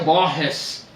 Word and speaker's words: Borges: o Jorge luí Borges em geral em meu país se pronuncia Borges que e queç isto